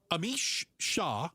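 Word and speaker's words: Amish Shah: Most of them negative, but um Amish Shaw, did I say his name properly?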